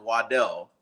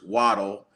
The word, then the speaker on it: Waddle: so it is true his original last name is pronounced Waddell but he prefers waddle I don't know if